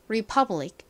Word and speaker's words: republic: 주고 아는이 소리 나죠 마지막 C 왔어요 c n 무슨 소리 나죠 원래는 크 소리가 나는데요 이렇게 단어의 끝부분에 왔을 때 굉장히 약하게 소리가납니다 그래서 republic republic republic 이렇게 받침 럼 들려요를 받침으로 표기할 때는 기억 받침으로 포기하죠 읽어 보면 republic이 됩니다이 퍼 부분에 강세가 있어요이 단어는 다소 어려운 단어인데